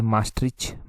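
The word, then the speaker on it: Maastricht: यहां पर देखिए ट्रीटी ऑफ ऐसे ध्यान रखिए मास्ट मास्ट एम A double S एस टी आर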